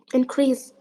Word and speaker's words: increase: the word growth increase how to uh pronounce increase if it's a noun because cross is a noun so increase may be verb or noun so if it's a noun you pronounce it like increase increase increase I stress the beginning of the word and uh uh uh